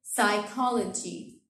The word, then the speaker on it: psychology: So psychology, I did not pronounce the P.